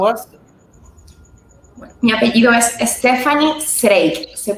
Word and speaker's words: Zreik: Mi apellido es Stephany Zreik. Se pronuncia Zreik.